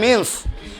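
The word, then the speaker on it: mesne: দুই 12 তে আছে মিনস প্রফিট মিসনে মিস নি প্রফিট কিন্তু উচ্চারণ হবে মিন্স বানানো হবে মিস নি এম ই এস এন E miss নি মিস নি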